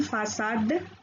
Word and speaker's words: façade: C أيضا تنطق مثل الحرف S إذا كانت تحمل العلامة لاسيدي، وهذه العلامة توضع تحت الحرف C. Ça, so, su. Une façade, la leçon, déçu.